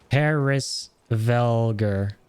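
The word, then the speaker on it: Hræsvelgr: Okay, so it's pronounced Hrisvelgur.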